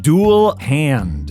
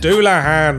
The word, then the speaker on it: Dullahan: Dual hand. Doulahan. It's a headless horseman from Irish folklore, you gigantic tit.